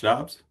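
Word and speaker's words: Doubs: Now, Romeo Dubes, watching him play or is it Dobbs? How do you say it? Dobbs. Is it Dobbs? Yeah, Green Bay, yeah. Why is there a freaking U in there then?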